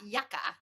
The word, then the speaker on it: Yuka: And then my hairdresser, my hairstylist, just this past weekend told me about Yucca, and it's spelled Yuka, and it focuses on cosmetics and foods.